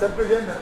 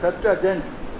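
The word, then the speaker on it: Septuagint: இப்போ செப்டுஜென்ட்னா நம்ம செப்டுஅஜென்ட் அப்புறம் உச்சரிக்கணும் இல்லையா, செப்டுஅஜென்ட்.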